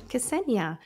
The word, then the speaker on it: Ksenija: And joining me today, I'm going to do my very best job of pronouncing your name, Ksenija.